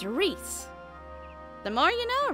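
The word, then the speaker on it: Rhys: So I just looked up how to pronounce the guy's name, because I was pretty sure it wasn't Rise. It's Reese.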